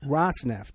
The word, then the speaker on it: Rosneft: First of all, how do you pronounce that? Rosneft? Rosneft.